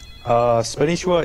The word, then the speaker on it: Spanishiwa: Spanishiwa is the correct pronunciation, and it's derived from, well, kind of my past.